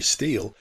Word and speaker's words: Stil: roll star as tommy steele now his name actually had an origin it was from his scandinavian grandfather thomas steele hicks spelt s-t-i-l but pronounced steel his next thing it